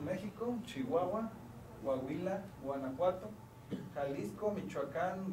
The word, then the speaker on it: Michoacán: Chihuahua Coahuila Guanajuato Jalisco Michoacán Oaxaca tascala Zacatecas y se pronuncian así meiso chihuahuan Cuahuila guanajuat Jalisco michuaca huasca clasal y Zacatecas hasta aquí si alguien quiere